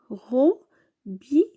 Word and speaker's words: robinet: Le mot suivant, c'est un robinet. Un robinet. Alors, ici, on va faire ET. Le mot, c'est un robinet. Bien sûr, ET à la fin se prononce E.